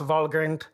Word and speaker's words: Valgrind: It should actually be pronounced Valgrind because it's a name that predates English language. It's from Norse mythology.